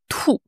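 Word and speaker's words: 吐: Du coup, ça se prononce au 4e ton trou.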